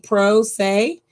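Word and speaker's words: pro se: right to represent yourself it's called being a pro say let me spell it for you p-r-o and then s e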